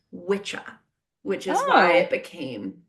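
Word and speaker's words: wicca: Anywh who um so wikah is actually the way that word is spelled is w i ca but in old English it would have pronounced been pronounced witcha which is why it became witch.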